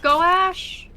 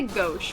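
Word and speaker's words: gouache: How How do you Is it Goash gash? Anybody know how to pronounce that word? I always say go, but I know it's incorrect. It's G O U A C H E.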